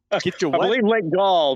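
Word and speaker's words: Gull: get your Goomy apparently Gall by uh by Brainerd got it it rhymes with ball it almost looks like he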